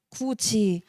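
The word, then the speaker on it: 굳이: 이게 뭐 마디까지 되면은 13항이 많은데 마지 이건 구개마라고 뭐 우리가 구지할 때 구지 미다지 할 때 미다지로 발음하잖아요.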